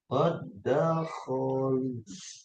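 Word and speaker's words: قَدْ دَخَلُوا: Dal sukun bertemu dengan dal hidup. Nanti dibacanya seperti ini. Qad dakholu. Nah, tuh. Dal yang pertama hilang ya. Dilebur ke dalam dal yang kedua dengan tanda tasdid ya.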